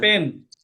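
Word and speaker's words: pen: ফেন হবে জি না, স্যার। পেন, পি, একদম ফি, একদম উচ্চারণ কারেক্ট করতে হবে, বুঝছেন। পরে এক্সামিনার বুঝবে না যে এটা কি কলম জি বলছেন না স্যার, কি পেন বলছেন। পেন হবে, পেন।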